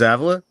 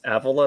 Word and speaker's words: Avila: James Avila? Wait, it's Avila, not Avila?